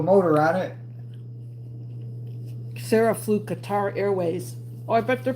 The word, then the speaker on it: Qatar: Sarah flew Qatar Airways. Oh, I bet their planes are nice. It's actually pronounced cutter.